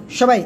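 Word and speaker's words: ثاء: সবাই একসাথে জোরে জোরে উচ্চারণ করেন তো।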